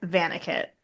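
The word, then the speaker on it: Vannacutt: Um it's his name is Vanicut or Vanicut. They they pronounce it Vanquick because but it's it's meant to be German.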